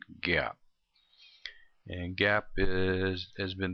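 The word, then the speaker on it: GAAP: come up with some generally accepted accounting principles pronounced that gap and gap is has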